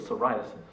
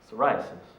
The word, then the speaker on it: psoriasis: only a case of psoriasis psoriasis it's spelled with a p as silent as its symptoms because while my dad